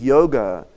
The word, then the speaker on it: yoga: And when you talk about yoga in the world today, many think yoga is to do with Hatha yoga and the